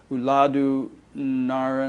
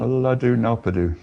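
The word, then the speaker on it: Ulladu Narpadu: He persuaded him to write down his teachings in Uladu Naran. Uladu Nalpadu.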